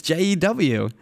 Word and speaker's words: Jew: No, spell it. It's Jew.